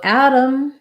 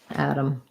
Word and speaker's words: Adam: adam adam and autumn so adam the name and adam the particle the same both of them have first syllable stress ah black cat vowel they both use a flap because t and d in the middle both tend to use flap in the dictionary you